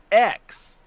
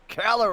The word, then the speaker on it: Calyrex: Spell it. That's floating, KG. Calyrex. Calyrex. There's an R in there? Really? Yeah, Calyrex.